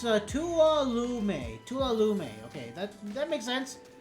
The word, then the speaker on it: Tuolumne: Pronounced Tuolumne.